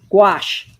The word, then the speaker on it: gouache: my foamy and I'm using gouache that rhymes with squash and I have to literally think the word squash before I say gouache otherwise I would not say it correctly so okay let's maybe